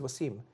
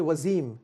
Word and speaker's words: Waseem: But I come to America, they say to me, they call me Waseem. You go to India, they call me Wasim.